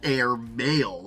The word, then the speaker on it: Airmale: up with air mail it is spelled a i r m a l e but it also sounds like air maale and they've used a